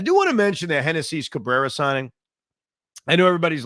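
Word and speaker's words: Génesis: loving the fact that it's spelled like genesis and so since kodai s is on the Mets the Mets now have SGA Genesis I hate to ruin this for you it's Hennessy I I don't know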